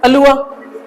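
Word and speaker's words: allure: सर आगे क्या है सर आपका, अलुआ, लुआ, कुछ लोग इसको क्या पढ़ेंगे, अलूरे पढ़ेंगे, कुछ याद है ऐसे करके गड़बड़ मत करना, अलूरे नहीं होता ये, ठीक है, क्या हो, अलुआ, लुआ, ये र साइलेंट रहता है लेकिन अ की साउंड देता है, अलुआ, ठीक है ना,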